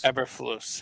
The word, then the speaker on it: Eberflus: Eberflus, is that how you say his name? Eberflus? Eberflus, yeah.